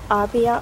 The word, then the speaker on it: Arbia: Our first time at the Arbia Awards. Arbia, that's how you say it.